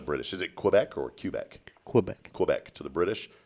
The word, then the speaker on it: Quebec: of being asked okay is it Quebec or Quebec neither it's cubec uh 1769 the Boston